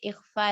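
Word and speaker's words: إخفاء: And this is pronounced, इख्फा इस तरह करेंगे, पंखा जिस तरह से उर्दू में कहा जाता है पंखा, इस तरह से पन का नहीं बोलते, नून की आवाज नहीं आती। तो that is exactly how you will pronounce इख्फा as well, लेकिन इख्फा को ज्यादा टाइम देंगे।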